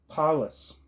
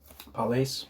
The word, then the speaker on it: Palais: front of the Reichskanzler Palace. I don't know if I'm saying that right. Palais, maybe. That's how you pronounce that last syllable.